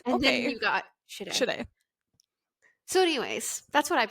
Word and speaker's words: Shade: Every time I read it, though, I'm like, Sadie. Because that's how I'm like, my brain immediately was reading it until it got pronounced in the book.